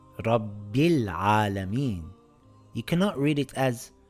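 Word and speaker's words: رب العالمين: For example, this reads rabbil alameen. I pronounce the lam because it's followed by a moon letter. I can't read it as rabbi alameen by skipping the lam.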